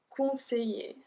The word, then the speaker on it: conseiller: Conseiller, conseiller. So we don't pronounce the L.